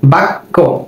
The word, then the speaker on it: বাক্য: ওই যে নিয়ম, যখন কোনো শব্দের মধ্যে বা শেষে জফলা থাকবে তখন সেটির উচ্চারণ 2বার হবে।